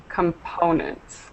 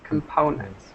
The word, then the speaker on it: components: allness okay excellent pronunciation just one problem with the stress of this word components components component okay component excellent everything else was great